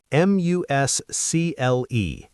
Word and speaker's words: muscle: M U S C L E. You say muscle like the seafood. Exactly. Not muscle.